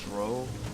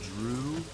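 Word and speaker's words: Dreugh: But yeah, I would have sworn they were pronounced Dro, D-R-E-U-G-H. Could also be pronounced Drew.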